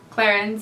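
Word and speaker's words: Clarins: loving this bundle from clairons i don't even know how to pronounce this but it's clarence okay in english um and i have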